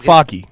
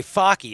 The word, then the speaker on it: Focke: Okay, Focky. I was going to say that one totally wrong. I was going to say the F-U-E. And I was like, I wanted to let you say that one first. F-O-C-K-E is how you spell it. Focky.